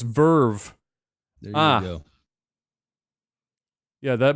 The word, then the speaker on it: VRV: Oh, VRV is pronounced Verve.